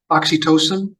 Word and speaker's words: oxytocin: into that yeah yeah Jerry how do you pronounce it oxy oxytocin oxytocin are there pills yes you're honored well